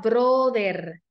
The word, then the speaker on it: brother: nos asusta pronunciación Igual acá no fuerte la r nunca Brother brother no brother Recuerden que la r es un sonido fuerte brother sisterlings que vimos